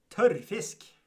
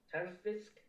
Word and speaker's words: tørrfisk: How do you pronounce that? Tørrfisk. Tørrfisk. Tørrfisk. You gotta roll the R.